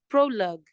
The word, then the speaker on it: prologue: next one is gu which is prologue prologue all right so the u e is silent we just have the G sound number